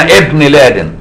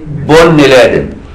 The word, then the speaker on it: ابن لادن: وتقراها عمر بن الخطاب تقول اسامه ابن لادن لكن الامريكان يقولوا ايه؟ بن لادن هي بن لادن بيقولوها بن لادن هي غلط يعني انا زمان من